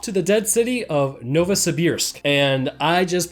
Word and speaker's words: Novosibirsk: Anna so off to the dead city of Novosibirsk and I just pronounced that correctly because I've heard about 40